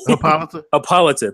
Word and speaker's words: Hippolyta: I thought maybe it would be an Hippolyta. Oh my God, I couldn't even say her name. Help me out. Hippolyta.